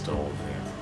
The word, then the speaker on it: stove: Gas stove, yeah. Okay. So, of course, stove. Don't forget your V sound at the end.